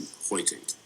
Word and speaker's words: Huitink: And Huitink, am I saying it right? Yes, Huitink.